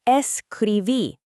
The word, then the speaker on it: escribí: The answer is escribí. With that accent on the i.